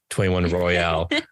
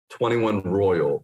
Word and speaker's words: 21 Royale: guys got invited to go to 21 Royal, 21 Royale. So you were there. How did they pronounce it? It was incredible, and they pronounce it 21 Royal.